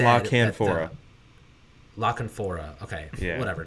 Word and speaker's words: La Canfora: Jason Conlafora? Conlafora, I think. Conlafora. He said La Canfora.